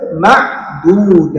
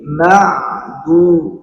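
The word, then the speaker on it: مَعْدُودَات: Nah, ini ada ain sukun. Maka ain tersebut hati-hati kadang-kadang ada orang yang masih apa membacanya itu huruf ain tidak muncul ya ee apa namanya wastul halkinya. Bahwa penempatan huruf ain itu adanya di wastul halq ya tengah-tengah tenggorokan. Jadi ma'du ma'du jangan sampai hilang mau ma.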